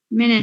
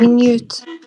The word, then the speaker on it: minute: Minute. Minute if it's a noun. How about if it's used as an adjective? Minute. Minute. Again, Minute. minute, yeah? Minute. Minute detail. Minute details, that's an adjective.